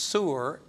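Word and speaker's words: סור: And it's pronounced sur, and it's a Hebrew word, and it means to turn off.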